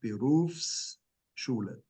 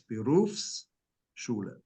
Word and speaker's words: Berufsschule: then it turns into Berufsschule. And you have to pronounce the S to make sure that people know that it's two words, Berufsschule.